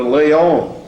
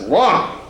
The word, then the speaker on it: Laon: wanted to go to Lyon. And I said, well, Lyon, that's way down the south. I said, no, Laon. Oh, they said, that's pronounced Lon. So I said, so when